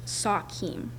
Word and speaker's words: sachem: It's an anglicized of sachem, we actually pronounced Sakim, and it means king or chief.